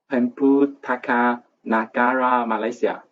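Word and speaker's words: Perpustakaan Negara Malaysia: It's pronounced in Malay, Pemputaka Nagara Malaysia.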